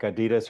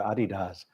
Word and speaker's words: Adidas: it's easy to pronounce, no controversy like Adidas or Adidas. Or Yeezy. Which is it? I think the Germans always say it's Adidas, but I don't speak German.